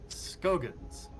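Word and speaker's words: Scoggins: Skogans. I believe it's pronounced Scroggins, actually. It's been a while, though. Well, there's two. There's a SCO. There's no R.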